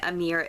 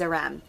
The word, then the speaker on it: Aram: for a mere being I'm calling him Amir again but his name is Aram a Ram I am so sorry I've been saying his name wrong this entire time but I REM I